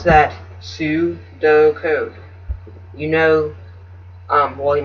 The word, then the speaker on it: pseudocode: code you pronounce that su-do code you know um well you might not know but most ps words pursue like p s e u words like that um sound the p is silent but um anyways that's